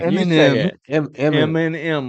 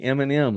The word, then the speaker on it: Eminem: can say it right Eminem like the company Eminem like the candy all right cema all